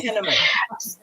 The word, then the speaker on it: Penniman: Penniman? like cinnamon. Okay. Penniman.